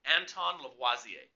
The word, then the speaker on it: Lavoisier: to pronounce it right but he was French so you got a foot kind of the French sounding to it so it's Anton Lavoie ze and he made one